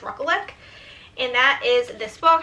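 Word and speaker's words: Rekulak: on his Instagram and I'm pretty sure it's ruckle and that is this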